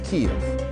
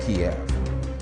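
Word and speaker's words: Kyiv: more media outlets now refer to the country's capital as kiev not kiev they're opting for the ukrainian pronunciation over the russian one it is a slight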